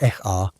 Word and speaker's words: Ea: Enki became Ea, pronounced Eh-a, and maintained his role as the clever god of wisdom and water.